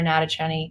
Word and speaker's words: Natochenny: you can just search my name it's Sarah natacheni it's up here if you can't spell it just Google voice of Ash you'll see